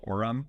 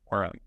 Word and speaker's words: Orum: This one's called Power Orem.